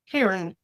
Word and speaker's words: CAIRN: How do you pronounce that and what the heck is it? Karen, and we'll get to it here in just a couple minutes.